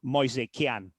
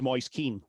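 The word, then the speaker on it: Moise Kean: he is Italian, as as Mois Kan, Mois Kan. Um then he went to Everton and announced to the world that he was Moyes Keen which is again the intuitive way that you would say his name.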